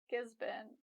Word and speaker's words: Gisborne: As for English, we noticed some interesting patterns with the spelling, like this sounds like bin, Melbourne, Gisborne, and this sounds like tin, Wellington, Hamilton, and so on.